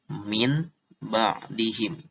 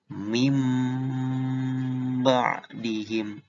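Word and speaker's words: مِنْ بَعْدِهِمْ: Jadi bacanya begini, bukan min ba'dihim, tapi mim ba'dihim.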